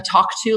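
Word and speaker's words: Tawk.to: One thing we added more recently was a Talk To live chat. It's spelled TAWK, something like talk, which the Americans should appreciate especially.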